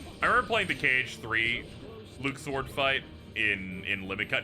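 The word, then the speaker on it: Luxord: all right you up top yeah yep his pronunciation is Luke sword they decided to not uh ever say his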